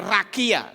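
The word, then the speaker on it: רקיע: Ini bacanya rakia, saudara-saudara.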